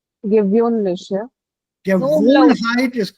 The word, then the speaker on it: gewöhnlich: Gewohnheit und gewöhnlich. Gewöhnlich, ja? Gewohnheit is correct, but the adjective, Gewohnheit. yeah, but the adjective has an umlaut. Gewöhnlich.